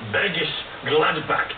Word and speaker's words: Bergisch Gladbach: Well, your heart began in the small town of Bergisch Gladbach in Germany. Did I pronounce that right?